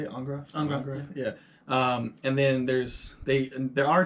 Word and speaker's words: Angrath: Angrath.